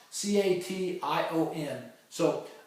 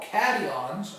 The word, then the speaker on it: cation: a positively charged ion is called a cadon c a t i o n so uh you can remember that because uh positive charged ions are called catons okay uh in in in a in a